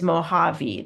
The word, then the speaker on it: Mojave: The J in Spanish makes an H sound. So it looks like Mojave, but the way you say it is Mojave. That's how you say it in Spanish.